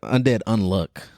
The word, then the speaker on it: Undead Unluck: let me make sure I say it right Undead unlock am I right yeah Undead unluck I mean so with Undead unluck um pretty